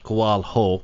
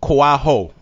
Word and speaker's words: Koaho: last name yes sir which is pronounced koal ho koaho now that's South African